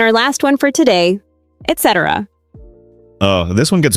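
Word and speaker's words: et cetera: People say excetera, but it's etc. Yeah, and don't forget, it's et, not ex. Right, etc. is Latin for and the rest, so it's et, like and.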